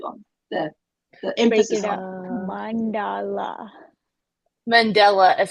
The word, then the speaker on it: Mandela: one do you put the accent on mandala Mandela is how they say it if you go to Google and type in how do you say it it says Mandela Mandela okay Bailey says he agrees with me Yes